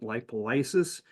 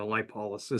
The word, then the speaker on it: lipolysis: And in fact, in the first video, I was pronouncing it rebound lipolysis, which is another way of saying the word, but more people are using the lipolysis.